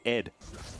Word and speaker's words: ADD: And you're supposed to pronounce it Ed.